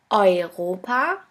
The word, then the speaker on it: Europa: The next letter combination is EU or EU, which is pronounced like oi. Here we have the example of the word Europa, which means Europe.